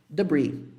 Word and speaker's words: debris: Aqueles detritos da explosão, isso em inglês é chamado debris. E olha que interessante. Tem um S aqui, mas esse S não é pronunciado, é como se fosse assim. Debris.